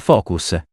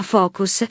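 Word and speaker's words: Fooocus: Il software si chiama Focus e si scrive con 3 O.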